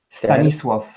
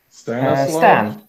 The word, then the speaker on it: Stanisław: Stanisław. Stanislav? Stan. Stannis. Like Stan. Like King Stannis from the Song of Ice and Fire. More like Stan from South Park.